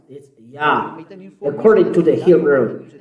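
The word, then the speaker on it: יה: His name is Yah. How to pronounce it? Yah. According to the Hebrew. When you see this word, it is read Yah in Hebrew.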